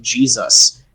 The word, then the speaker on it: Jesus: reason we pronounce it Jesus is because that's the phonetic pronunciation of the Greek version of his name glorified Athena or